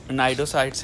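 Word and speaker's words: cnidocytes: उसके बाद नाइडोसाइट्स हैं, इसमें शायद सी साइलेंट होता है, एंड नेमेटोसाइट्स हैं।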